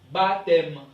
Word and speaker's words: baptême: dit pas la moelle on dit baptême OK et puis ici ne se prononce pas on dit donc